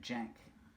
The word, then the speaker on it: Cenk: But they pronounce it Jank.